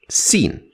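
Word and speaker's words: سين: can start with the first one scene from the sound of it you can already guess that it is the s sound like in the word sir sir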